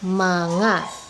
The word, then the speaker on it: mga: the next is our mana so this mga here it is pronounced as ma na okay this is the